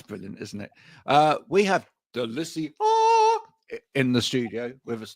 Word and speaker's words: Delicia: We have Delicia in the studio with us today. Yeah. Well, actually, it's Delicia because it's a strong A at the end.